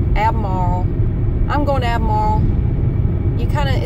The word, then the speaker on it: Albemarle: you don't pronounce it alamor you pronounce it abmar abmar I'm going to abmar you kind of it's like A- m a r l abmar you can take out the r or the L abar that's where we're